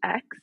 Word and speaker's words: Aix: Is it pronounced X? The rosé? Oh, like A-I-X. A-I-X? I don't think that was me, but yeah, the X rosé is good.